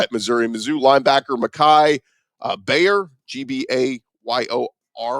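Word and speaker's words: Gbayor: Another guy at Missouri, Mizzou linebacker Mekhi Bayor, G-B-A-Y-O-R. I'm going to assume the G is silent there.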